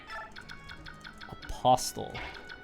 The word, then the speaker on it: apostle: Oh, it is silent.